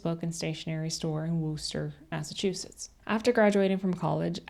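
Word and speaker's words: Worcester: She was born in Worster, Massachusetts.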